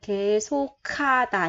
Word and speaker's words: 계속하다: Ở đây mình sẽ đọc là 계속하다 nha các bạn.